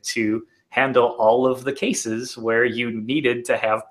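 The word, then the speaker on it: kses: yeah okay so so I always call it cases yeah and so I mean I don't know if that's like the official pronunciation for it but I call it cases because I think the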